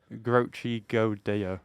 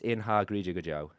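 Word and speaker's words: In ár gCroíthe go deo: but if we could look how that thing is spelt, In I've done a good job. Grochi Go Deo. No, it's Inha Grija Joe.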